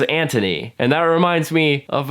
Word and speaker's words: Anthony: Anthony's name is spelled like Anthony, but everyone says Anthony.